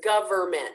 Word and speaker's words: government: say something like gummin make sure it's government you get all three of those syllables don't leave out the middle ones opportunity like opportunity slow